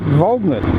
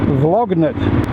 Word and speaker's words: Volgnit: matter about mispronunciation, but I've often been called by other moto vloggers Vlognit. I've also been called Volgnite. but there's no E on the end, people.